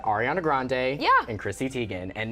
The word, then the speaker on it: Grande: ariana grande herself but grandi is how her grandfather pronounced it so I I understand